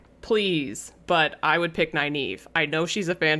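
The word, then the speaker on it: Nynaeve: also may not have actually liked uh the nave nave neva naive is how you my knees technically supposed to pronounce it all right um she also might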